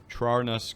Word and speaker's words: Trarnus: You're welcome, and yes, you're pronouncing Trarnus correctly.